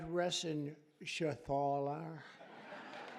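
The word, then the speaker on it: Reschenthaler: John David Joyce David thank you and Guy Ren Shaler you know that rener he's uh that's actually the way you pronounce said you know nobody else gets it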